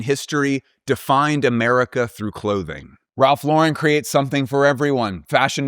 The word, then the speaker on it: Ralph Lauren: It is pronounced Ralph Lauren. Ralph Lauren.